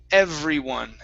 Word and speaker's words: everyone: It's everyone. Everyone. Good. Okay, so your top teeth need to touch your bottom lip.